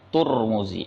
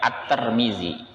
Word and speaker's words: Tirmidzi: antaranya adalah Imam Tirmidzi ngomong-ngomong ada juga yang membacanya dengan odomart turmudzi atturmudzi ada juga yang membaca at-tarmidzi bahkan ada yang baca dengan huruf Dal dzal nya diganti Dal akar Mini kalau yang masyhur yang biasa kita gunakan itu Tirmidzi Tapi kalau